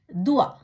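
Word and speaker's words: doigt: தே ஓ இ ஜே தே, துவா, விரல்.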